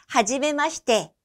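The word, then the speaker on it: はじめまして: 발음 따라서 해볼까요? 하지메마시테.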